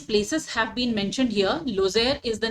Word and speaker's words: Lozère: It will not be pronounced Lozère as it can often be called, but it will pronounce with the pronunciation, the stress on E. So we'll have to pronounce it Lozère.